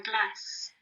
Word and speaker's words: glace: And the French for this is La glace. la glace. La glace. La glace. Fantastic. Now you can see that it has got the C and the E grapheme, making this s, la glace.